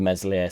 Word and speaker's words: Meslier: get away from the mesle silent s stuff but it's difficult in it there's been a rumor floating around that is far has had a firm word with mesli silent s and talk